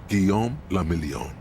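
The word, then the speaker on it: Guillaume Le Million: Guom lamelon. If it doesn't rhyme, you're not pronouncing it right.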